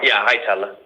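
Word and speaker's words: Hietala: Yeah, Hitella. So, the A is an E. Um, it's it's H I E T A L A. Okay. So, the first A is pronounced like an E.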